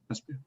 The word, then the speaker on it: Esbjerg: A location such as Esbjerg. Esbjerg, is that? Did I pronounce that correctly, Charlotte? Esbjerg.